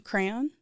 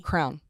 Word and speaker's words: crayon: you color with it a crayon two syllables most of us are one syllable really Crown no mhm nope Crown no way yeah I do I actually do say it in two syllables but no most people say it single syllable Crown a beverage that